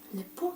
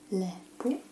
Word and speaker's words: lepo: You would say it like, lepo te videti. Lepo te je videti. Lepo.